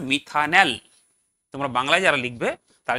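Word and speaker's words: methanal: কি হবে পরপর লেখ স্পেলিংটা এম টি এইচ এ এন এ এল উচ্চারণ হবে মিথানেল তোমরা বাংলায় যারা লিখবে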